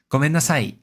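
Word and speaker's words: ごめんなさい: But here in gomennasai, the e drops in pitch compared to oyasuminasai.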